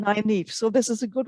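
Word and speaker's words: Nynaeve: someone wrote nine neve so the number nine and then e for evening nine eve so this is a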